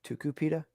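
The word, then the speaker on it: Tucupita: like two supita or tuku pita tuka pita tukapita that's not how it's spelled that's exactly how it's spelled t-u-t-u-c-u tuka pita p-i-t who's not pronounced ooh u is pronounced ooh tukupita tuka pita i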